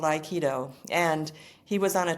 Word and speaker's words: Aikido: But I want to hear about how did you get into Iikido? Did I pronounce that correctly?